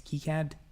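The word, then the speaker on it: KiCad: process or or filing their application key key key CAD it's not it's not K Kad it's key CAD because it's named after some dude named key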